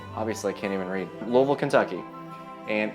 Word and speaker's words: Louisville: Louisville, Kentucky. And it's pronounced Louisville, not Louisville or Louisville.